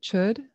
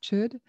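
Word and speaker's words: chöd: practice stems from uh chud which is spelled c-h-o with an umlaut d chud and and that's a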